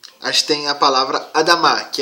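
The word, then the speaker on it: אדמה: Mas juntando todas as palavras, as letras consonantais, aparece essa pronúncia, Adamá.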